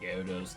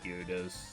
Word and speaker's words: Gyarados: I wonder if people call Gyarados water onx because they don't want to um pronounce Gyarados cuz it's like gyos. Gyarados. There's a Y in there.